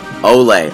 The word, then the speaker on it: Olle: I pronounce it wrong is it or ole ole okay thank you um a lot